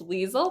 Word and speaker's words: Liesel: to spell it is it's Liesel, like diesel with an L, and with an E, like stationary with an E, and studios. And so you can find us on Instagram at Liesel Anne Studios, Facebook, Pinterest,